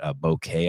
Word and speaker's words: bokeh: blurred out what they they call that bokeh I think is the the pronunciation of it b o k e a H it's a you've seen